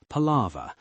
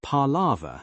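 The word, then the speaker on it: palaver: The term is most commonly spelled p a l a v er palava. though often pronounced parlava in British dialects has a fascinating multi-layered history that fits perfectly with the linguistic interests of any writer.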